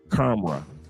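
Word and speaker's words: Khamrah: Karma. Like the H is silent.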